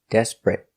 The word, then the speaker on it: desperate: 2 syllables. The stress is on the first syllable. Desperate. Not 3 syllables, desperate, but 2 syllables.